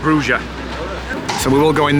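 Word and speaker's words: Brugge: So whereas we pronounce it as Bruges, here it's called Bruges.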